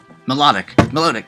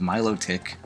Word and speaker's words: Milotic: It's pronounced Milotic. Milotic? I always call it melodic. No. Why is it Milotic? I don't know. There's no W to make it low. I don't know. It's just the way it is.